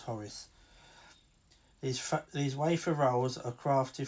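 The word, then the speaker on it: Hořice: Or as they pronounce it, Horiki or Horici, but because I'm English, I try and pronounce it an English way, which is Horis.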